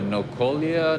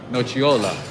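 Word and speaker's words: nocciola: dc okay nice what about the nocolia no what what nochiola oh my god i butchered it no chiola wha what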